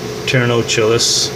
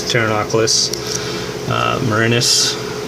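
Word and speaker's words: Pterinochilus murinus: That's Thanx marinus, or Ternocillis is what some people call it. If you get a Latin pronunciation, it's Thanx marinus, and it's that's your OBT.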